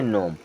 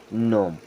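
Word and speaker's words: gnome: इसे क्या पढ़ते हैं जी होता है साइलेंट और इसे पढ़ते नोम क्या पढ़ते हैं नोम डिजाइन क्या पढ़ते हैं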